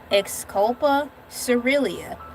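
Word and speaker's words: Xylocopa caerulea: The most famous blue bees is the blue carpenter bean whose scientific name is exculpa cerilia which boasts a coast of vibrant turquoise blue fuzz where they live.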